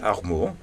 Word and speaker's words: Armour: Bon après-midi, nous avons avec nous aujourd'hui Armour, c'est bien Oui, prononcé? oui, Armour.